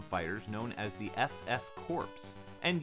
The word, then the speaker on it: Corps: known as the ff corpse and yeah i know i said corpse not core much like contra hard corpse i refuse to not pronounce that p and s and if you got